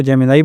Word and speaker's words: Gemini: और Google का चैटब जेमिनी मैं इसको जेमिनी बोलता हूं। लोग इसको जेमिनाई बोलते हैं। लेकिन क्योंकि इसके spelling ji ई एम आई एन आई है तो मैं इसको जेमिनी ही बोलूंगा।